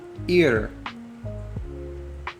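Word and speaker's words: עיר: Next is ir.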